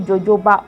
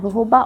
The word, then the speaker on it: jojoba: Sometimes I used to call this oil jojoba oil. It is not pronounced jojoba. I think it's called jojoba oil.